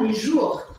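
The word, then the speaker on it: les jours: a gente vai falar lejour E aí aquele r arranhadinho e o s no final não se pronuncia e os meses a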